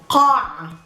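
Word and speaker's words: قاعة: Qa, it's a guttural qa. Come from the deep in the throat. Qa, qa, qa. Not ka, ka, ka. Qa. Qa with a long a. Qa, qa. And then we have the ayn again in the middle. Qa'a. And the ta marbuta with just a short a sound after the ayn.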